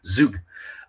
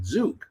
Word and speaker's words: Zug: there's a city in Switzerland called Zug which is spelled z-u-g-z-u-g zuke um there's a company there uh I mean